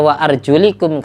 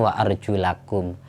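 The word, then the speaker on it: وَأَرْجُلَكُمْ: Tapi ketika dibaca wa arjulikum kaki itu diusap. Yang benar cara bacanya wa arjulakum. Lamnya harokat fathah.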